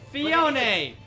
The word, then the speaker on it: Phione: I have no problem with it this thing phione oh yeah that the bad thing is that's its official pronunciation and that pisses me off now yeah